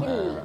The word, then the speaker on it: Bukel: morning Paula So how do How do you pronounce cafe ah cafe bukil in Ilocano bukil pero tayo Tagalog buk bukil Buking na lang